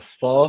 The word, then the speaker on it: pho: it's spelled PHO, like it's spelled pho, but you say pho.